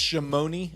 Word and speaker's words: Chamonix: It's pronounced Chamonix.